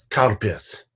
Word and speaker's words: Calpis: like a soft drink, cow piss. Cow piss, yeah. It sounds like cow piss, yeah. Yeah, and it's spelled in English. It's spelled CALPIS, I believe.